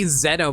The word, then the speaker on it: Xeno: God, I need to remember to say Xeno more often. That actually is the correct pronunciation for it.